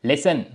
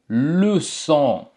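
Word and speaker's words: leçon: என்றது வந்து பிரெஞ்சுல வந்து லு சோ என்று சொல்றது லு சோ ஓகே அப்ப இதனுடைய உச்சரிப்பு பார்த்தீங்க என்றால் என்ன நான் சொன்னேன் எஸ்ஐ போல இருக்கும் என்று ஓகே அப்ப சே மற்றும் சேஜி மற்றும் ஓ சோ லுசோ லுசோ ஓகே இதை சிறுவன்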